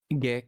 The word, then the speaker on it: Gix: After receiving an urgent message from Steward Gix, is that Gix or Gix? Gix. It's Gix, Hard isn't G. it? Okay, a hard G.